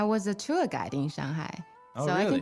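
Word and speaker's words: 上海: I know a lot of foreigners, they said Shanghai. Yeah, I noticed that Shanghai. Chinese people, when they mimic foreigners, they say Shanghai, right? But the correct way to say it is, Shanghai, Shanghai.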